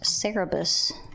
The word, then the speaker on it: Cerberus: if you ask me it can also be pronounced cerebus and not a Cerberus I'm a wobble dog I